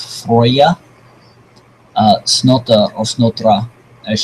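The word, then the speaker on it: Freyja: you might recognize this as the daughter of Freya or more properly pronounced frya uh snot or snotra as she is known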